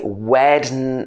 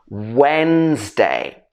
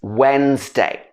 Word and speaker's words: Wednesday: of people will say wednesday wednesday or something like that it should be when's at the beginning wednesday what day is it today it's wednesday the next one is